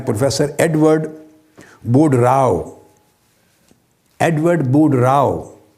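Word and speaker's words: Boudreaux: Rao Edward बुड राव बुड राव का spelling भी note कर ले यह मुख्तलिफ है साउंडिंग से वह है बी ओ यू डी आर ई ए यू एक्स मगर एक्स साइलेंट है बोलने में तो एडवर्ड बुड राव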